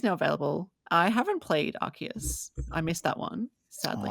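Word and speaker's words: Arceus: didn't we we weren't sure if it was Aus or arus it's arus I I tend to agree with you but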